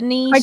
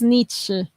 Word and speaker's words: Nietzsche: Oh yeah, I niche. can't pronounce that name after it. It's So, niche. So yeah, because it's German, right? So it's Nietzsche. I'm gonna take your word for it.